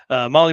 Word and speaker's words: Mahle: And for everyone listening to this, not watching, Molly is spelled Mahle.